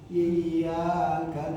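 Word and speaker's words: إِيَّاكَ: Ada sidah itu sidah itu gunanya untuk menggandakan huruf dan cara bacanya adalah ditekan. Iyaka na'budu wa i ada penekanan.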